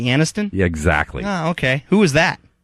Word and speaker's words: Aniston: by Jennifer Anderson and ersten yeah is that supposed to be Aniston exactly okay who is